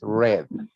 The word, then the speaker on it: read: past participle is gone the pronunciation is red color read red red okay read red layer